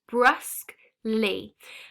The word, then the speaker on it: brusquely: this word bruskly now this word bruskly has two syllables brusk lee now this word bruskly